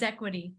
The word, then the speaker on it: xequity: how do you say the company name is equity okay like what it sounds like a z but it's